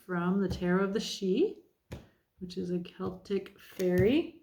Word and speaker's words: Sidhe: But we're going to start out with an overall card from the Tarot of the She, which is a Celtic fairy, spelled Sidhe, pronounced she.